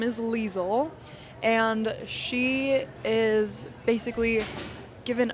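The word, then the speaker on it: Liesel: Or is it lizel? It's leisel. I think I was saying lizel. Okay. When I was I think it's leisel. I don't know. Um we'll just both pronounce it our own ways.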